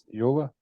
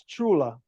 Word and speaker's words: Ciula: It's Ciula, Pardon me? Ciula, Eula? Ciula. Eula. Italian, it's Chula, yeah, what kind of Italian are you?